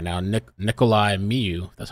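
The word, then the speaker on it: Nikolay Miu: the guy on the stand right now ni Nikolai Miu that's how you say it and M went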